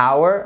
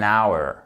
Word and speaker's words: hour: plus courant pour lesquels le H n'est pas prononcé du coup qu'est-ce qui se passe on commence par un son voyelle et donc pour dire une heure on ne dira jamais a hour on dira un hour an hour ok c'est pour